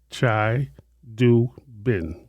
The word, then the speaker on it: Chidubem: Chai Doobin. B E M. You have to pronounce that B. Oh, Bim. Oh, Chai Doobin.